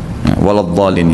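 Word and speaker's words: ولا الضالين: Yang saya tahu tetap dibaca d ya waladin ya.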